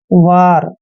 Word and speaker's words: war: दोस्तों W का उच्चारण व करते हैं, ए को आ की मात्रा पढ़ते हैं और आर को हमने रे पढ़ना है। वार, वार क्या होता है?